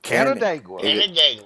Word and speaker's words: Canandaigua: Canandaigua. Canna or Canon? Canna, like Canada, because it is just miles from the border of Canada and New York, in upstate New York.